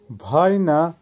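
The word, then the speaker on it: война: ভাপ্রোস, ভাপ্রোসের অর্থ হবে প্রশ্ন বা কোয়েশ্চেন বা প্রবলেম, না উচ্চারণ হবে ভাপ্রোস। আবারও বলছি ভাপ্রোস। ভাইনা, ভাইনার অর্থ হবে যুদ্ধ বা ওয়ার, উচ্চারণ হবে ভাইনা।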